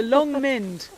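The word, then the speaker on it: Long Mynd: get that right the long mind but spelt with a y yeah m y nd and wenlock edge and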